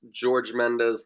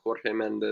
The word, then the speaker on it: Jorge Mendes: want to correct you it's george mendes not jorge mendes okay okay got it got it george mendes it's portuguese people get uh very offended when you uh pronounce the j i'm sorry guys i'm